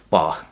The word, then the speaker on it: Bach: It's pronounced Bach, by the way. Bach.